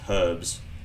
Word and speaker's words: herbs: Why do I say herbs? It's herbs. There's a H there for a reason, you damn Americans.